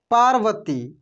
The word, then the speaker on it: पार्वती: एक बार कैलाशवासी शिव माता पार्वती, इसको पढ़ेंगे हम लोग पार्वती, पा के बाद रेफ की मात्रा लगा है व के ऊपर, तो र का उच्चारण होगा।